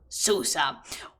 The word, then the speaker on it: Susa: city of Susa and I will try it and pronounce sua in the most Spanish way I can because I can because I love the Spanish in tonation of like Susa helloo there is also